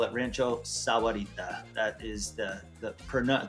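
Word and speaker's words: Rancho Sahuarita: you've been here long enough you call it Rancho Sarita that is the the pron the correct pronunciation of it and that is down south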